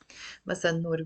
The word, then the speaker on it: مساء النور: I'm gonna write it in مساء النور with the double N. مساء النور, because we don't pronounce the lam there.